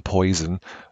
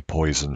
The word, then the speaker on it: Poisson: just call it the poison uh distribution but it is actually a french mathematician who figured it out and it's pronounced poisson or something along those